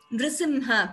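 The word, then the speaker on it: नृसिंह: Meena krite kamatha, tha is mahaprana, kola, nrisimha, please note pronunciation of this word also, nrisimha, nrisimha, nrisimha varnin.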